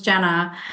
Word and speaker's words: Jenna: Yeah, it's actually pronounced as Jenna.